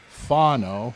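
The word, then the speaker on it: Fano: We took Spencer Funo. That's the way you pronounce his name.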